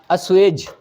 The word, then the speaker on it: assuage: और एक वर्ड है यहाँ पर ASSUAGE, इसका प्रोनाउंसिएशन है अस्वेज।